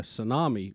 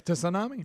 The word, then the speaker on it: tsunami: A tsunami? Do not like which, those warnings. Which is, as I like to call it, Greg, a tsunami. Tsunami. Tsunami. Well, you know how I feel about silent letters.